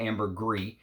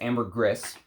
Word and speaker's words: ambergris: Now, Amber Cologne is a ambergris fragrance, and according to a ambergris collector, you are supposed to say the S. It's not ambergris. It's ambergris. Is the proper way to say it.